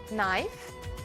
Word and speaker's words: knife: Aprendeu o som do G e do K antes do N. Knife?